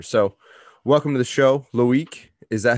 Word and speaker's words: Loic: So welcome to the show, Loic. Is that how you pronounce it?